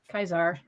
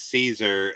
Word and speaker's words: Caesar: a classical scholar yeah kaizar yes but yeah the thing is yeah it is Caesar uh in you know the uh the anglicized uh way to do it so I think